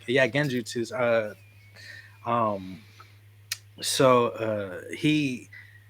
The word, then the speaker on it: genjutsu: bro you killed him I keep saying it wrong again trying to say it's like the Jiff and GIF thing no this one is actually genjutsu yeah so he